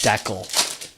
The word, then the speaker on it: Deckle: Deckle rhymes with freckle.